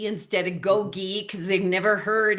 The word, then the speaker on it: GOGI: find it in the trash and they pronounce it goji instead of gogi because they've never heard how we pronounce it.